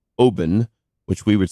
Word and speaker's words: Oban: couple years ago I was at what is pronounced Obin which we would say Oban the scotch I was just sitting out looking